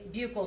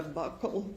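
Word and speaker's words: buccal: Now, um can you tell the jury what a bugle swab is? So, a bugle swab or a buckle swab depending on different people say it different ways.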